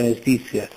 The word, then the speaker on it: mestizia: soffo Izzia arguzia Letizia mestizia la Z è semplice nella grafia ma in realtà è una geminata una doppia chiunque lo